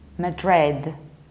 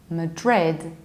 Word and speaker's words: Madrid: Frankfurt and now Espana the capital of Spain is not married even though in Spanish they say men today on Madrid it's Madrid Madrid you stressed the last syllable Madrid and another equally